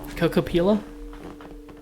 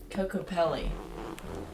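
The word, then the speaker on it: Kokopelli: I don't know how to pronounce this. Could you help me out here, English major? You are too. I know. Cocopella? Cocopella? Cocopelli.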